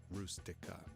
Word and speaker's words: Rustica: versions of the Fiat 127 called the or Rustica, as it's pronounced in Italian.